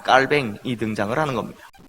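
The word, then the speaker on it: Calvin: 합니다 이 사람은 올해 프랑스 사람이니까 프랑스 어 발음 그대로 면장 깔 뱅이 등장을 하는 겁니다 이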